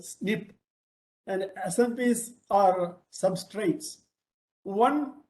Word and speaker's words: SNP: single nucleotide polymorphism or snp smb is usually pronounced as snip and snps are substrates